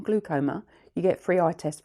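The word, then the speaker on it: glaucoma: one generation down has glycom glucoma sorry I keep saying it wrong glucoma you get free eye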